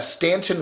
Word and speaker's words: Stanton: He's up in Stanton River Park. Virginia, they always spell it Staunton, Staunton, but it's Stanton, up there in Shenandoah Valley.